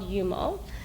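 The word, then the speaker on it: Joomo: a plat platform called yumo um yeah it's spelled j o o m o of course but it's yumo it's it's European okay naturally got designers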